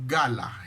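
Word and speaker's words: גלה: término revelación o revelar viene de una palabra hebrea que se pronuncia como gala de la chica la que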